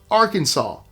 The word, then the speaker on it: Arkansas: to mispronounce the name Arkansas. By statute, it's meant to be said Arkansas with the final S silent, reflecting the name's French origins.